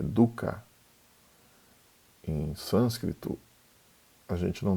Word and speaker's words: dukkha: do sofrimento que é Duca em sânscrito a gente não tem acento tônico a gente não acentua uma sílaba então não seria Duca seria Duca então primeiro primeira nbre